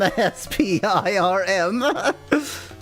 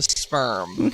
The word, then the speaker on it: Spirm: So much for giving money to, Spirm, S-P-I-R-M. So much for giving money to sperm. No, Spirm. Don't mispronounce it, you perv. It just sounds like you're, like, Finnish trying to pronounce sperm.